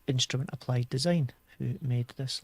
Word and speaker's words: INSTRMNT: They're called Instrument Applied Design, but it's spelt funny. It's INSTRMNT.